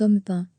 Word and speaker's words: Amphan: Amphan, se prononce Amphan, a atterri vers 18h